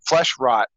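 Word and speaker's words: Flesh Wrought: Well, he's also a phenomenal guitarist, and he has another band called Flesh Rot, but it's spelled like WROUGHT because Right.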